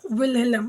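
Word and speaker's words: Wilhelm: जिसका नाम क्या था विल हेलम ये विलियम नहीं है विलियम की स्पेलिंग होती है वी I double L आई ए एम इट इज विल हेलम द boy liked to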